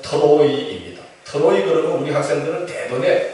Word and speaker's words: 트로이: 드로아는 한국식 발음이고 원래 본 지명은 트로이입니다.